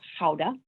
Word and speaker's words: Gouda: name gouda or sauda the correct way to pronounce it the dutch way a little more guttural sound there howda so basically towns in